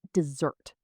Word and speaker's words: dessert: The hot, dry place with sand is a desert. You put the stress on the first part, but the sweet food you eat after a meal is dessert. You put the stress on the second part.